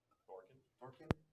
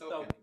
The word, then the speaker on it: Thokin: Thorkin. There's no Tyler, R. what's It's your just, character's name? it's just Thokin. Thokin. Okay, No R.